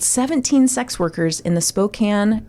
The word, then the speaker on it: Spokane: Robert Yates killed 17 sex workers in the Spokane it's Spokane right not Spokane I think it's Spokane but